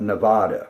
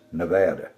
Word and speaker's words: Nevada: You can always tell somebody who doesn't know how Westerners pronounce things, they talk about Oregon when it's Oregon and they talk about Nevada when it's Nevada.